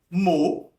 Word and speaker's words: mot: A letra O, que em francês eu vou pronunciar O, eu tenho a palavra mot, próprio som da letra, né?